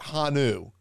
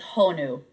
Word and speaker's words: Honu: I know it's so simple, but I mispronounced the first part of it. It's not Hanu. It's Honu.